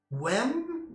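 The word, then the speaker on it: wemb: This was called WEM, but it's spelled W-E-M-B.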